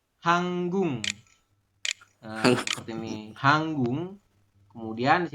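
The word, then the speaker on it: 한국: Ini guk, giok di akhir bertemu dengan miem, maka giok berubah bunyi jadi eng. Jadi ini dibacanya hanggung.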